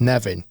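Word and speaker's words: Nefyn: spelled almost like nephin but the the locals pronounce as Nevin um in Wales on the there only your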